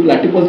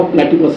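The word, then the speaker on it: platypus: असं स्पेलिंग आहे, त्यामुळे मी आपल्या भारतीय उच्चाराप्रमाणे त्याला प्लॅटिपस असं म्हटलं का, म्हणजे खरा काय उच्चार असेल आय डोंट नो. तर तो म्हणला डू यू मीन प्लॅटुपस, हां तिथे यू प्रमाणे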